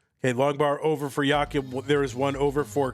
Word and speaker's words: Jakub: And Jakub, because I'm an American and I can't imagine that anything would not sound like Americans pronounce it. I said Jacob one time, so I remember that.